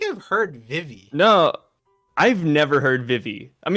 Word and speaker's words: Vivi: Vivi is BB in Japanese. Or Bibi.